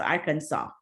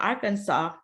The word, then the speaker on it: Arkansas: different states so anyway but Kansas you actually would say Kansas but Arkansas you make it into a w because it's an Indian name but anyway and then